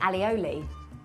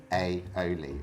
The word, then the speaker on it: aioli: Okay, I say alioli. Again, wrong. Is it? How do you say it, Chris? Like garlic mayo? I think it's aioli. Alioli. Aioli. There's no double L.